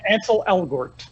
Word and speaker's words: Ansel Elgort: So how do you pronounce it? Ansel Elgort.